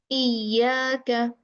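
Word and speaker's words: إياك: Exaggerating the sound during articulation and pronouncing a thick sound when it has a shadda. Iya, iyaka. The right pronunciation is iyaka, iyaka.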